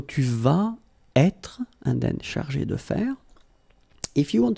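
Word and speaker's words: chargée: notice that if you put that at the feminine form, elle, then you will have to add this e at the end of chargé. Okay, so it will be the feminine form. You don't pronounce it because phonetically it doesn't exist, but you need to write it.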